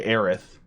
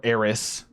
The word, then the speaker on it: Aerith: he's never mentioned by aerith or aerys depending on how you want to say her name yeah if they do